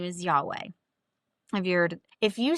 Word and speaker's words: Yahweh: And when you try to pronounce it, it's pronounced like you're you're inhaling and exhaling.